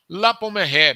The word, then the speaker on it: La Pommeraye: Por exemplo, La Pommeraye, me permitam usar aí a pronúncia francesa.